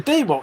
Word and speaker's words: DeWalt: The correct pronunciation of the tall brand DeWalt is DeWalt, exactly. With the emphasis on the first syllable. It is pronounced with a long E sound, like the word deep.